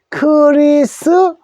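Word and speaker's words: Christmas: 하는데 트 발음을 내는데요, 크리스마스라고 할 때는 요 트 소리가 소리를 내지 않습니다. 그 소리 내지 않는 것을 우리가 묵음이라 그래요. 묵음이라 하는데 요 T자가 묵음입니다. 소리를 내지 마십시오. 묵음이라 해서 요거를 안 쓰면 또 틀립니다. 써주되 소리는 내지 않습니다. 그래서 크리스마스가 됩니다. 그래서 우리는 보통 크리스마스를 하는데 영어로는 크리스머스예요. 머스.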